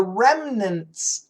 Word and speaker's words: remnants: The community, the town, is the remnants of. Oh, good word. Remnants. R-E-M-N-A-N-T-S. Remnants. We use a schwa pronunciation.